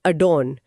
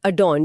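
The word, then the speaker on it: adorn: और प्रोनाउंसिएशन में भी बहुत हल्का सा फर्क है। एडोर और अडॉन जहां एन पे हल्का सा जोर आता है।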